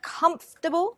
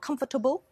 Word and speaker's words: comfortable: are most confused because there is a silent sound there basically we are removing a vowel sound and it means that there are only three syllables comfortable not comfortable comfortable and vegetable not